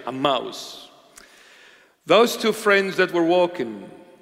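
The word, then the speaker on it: Emmaus: walking to aous am that's a proper pronunciation amous those two friends that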